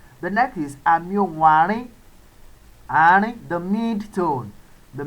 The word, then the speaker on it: àárín: The next is àmì ohùn àárín. Àárín, the mid tone. The mid tone. And that is pronounced re, re, re.